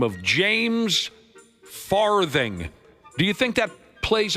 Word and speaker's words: Farthing: Oh, you pronounced the th h so prominently. I didn't even get the farting part there.